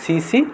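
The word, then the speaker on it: tsetse: তারপর সিসি ফ্লাই বা সেটসি মাছি, বানানটা এরকম হবে TSE CTSE, তাহলে উচ্চারণ CC অথবা কেউ কেউ বলে সেট সি।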